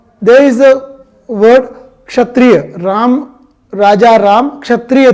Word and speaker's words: Kshatriya: Like there is a word Kshatriya, Raja Ram Kshatriya थे, Kshatriya. See the pronunciation of Ksha, KSH. We use KSH, Ksha. Many people pronounce it Ksha. This is Ksha. This is the clarity. Ksha, Kshatriya, Kshatriya.